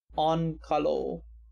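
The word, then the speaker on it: Onkalo: all finns have very creative names also it's pronounced on kalo han kalo where on is pronounced like on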